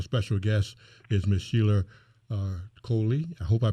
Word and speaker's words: Coley: jackson and our special guest is ms sheila coley i hope i pronounced your last name correctly yes that's correct